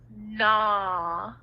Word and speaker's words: gnaw: of a word, the G is silent, so we don't say it. Here we go. Can you read these words? Nat. Now. Gnome. Nash. Good. Excellent reading. Very good. This one right here. Gnaw.